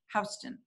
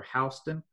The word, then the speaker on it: Houston: And by the way, there's some debate as to whether the name is pronounced Houston or Houston. I think the more accepted pronunciation is Houston.